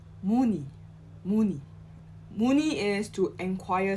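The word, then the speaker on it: 문의: we but but we link the n sound so we'll pronounce it as muni muni muni is to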